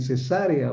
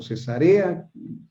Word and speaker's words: Cesarea: Lo que dice aquí en Hechos 21 es que vivía en Cesarea o Cesarea, como usted lo quiera pronunciar, pero ahora vivía en